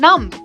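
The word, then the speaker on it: numb: My legs have gone नम, my legs have gone नम। ठीक है, यहाँ बी साइलेंट होता है, आप याद रखिएगा।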